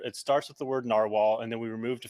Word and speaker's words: Nrwl: So it's pronounced Narwhal, but you can call it whatever you want, Nrwl or Nrwl. I'll know what you mean.